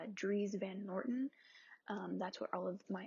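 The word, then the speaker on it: Dries Van Noten: But I feel like, I believe it is pronounced Dries Van Norton.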